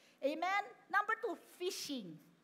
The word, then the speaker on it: phishing: Number two, phishing. Phishing. Ayun o, phishing. Pronounce nyo nga. Parang fish, no?